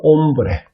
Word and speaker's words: hombre: 그러면 남자 같은 경우에는 hombre, H-O-M-B-R-E. H가 제일 앞에 오게 되면 무거운, 발음이 안 된다고 제가 말씀을 드렸습니다.